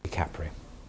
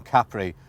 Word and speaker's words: Capri: What's that? Capri? Capri. Well, that was the way we were all meant to pronounce it, but of course, it never turned out that way.